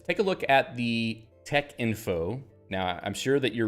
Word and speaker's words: Texinfo: screen and you're saying why is it not Tech info well um because uh this was I think drives from Tech which is a type setting system Tech type setting system